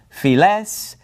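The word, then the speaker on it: φυλαῖς: And so this is going to be pronounced tes dodeka philes tes enti diaspora cherin. All right, so all of those alpha iota diphthongs are pronounced like epsilons, okay?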